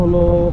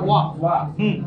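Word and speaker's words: は: যখন পার্টিকেল হিসেবে ব্যবহার তখন এটাকে উচ্চারণ করতে হয় ওয়া। হা হয়ে যায় ওয়া।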